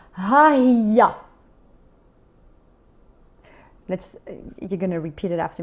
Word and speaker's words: Hiya: Okay, so let's do a bit of pronunciation for now. In the feminine, it's Hiya.